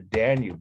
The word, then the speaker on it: Danube: here these are roman soldiers marching across the danube the biggest river in europe it's not the